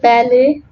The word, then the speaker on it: ballet: Letter T is silent in some French loan words such as ballet, gourmet, and rapport.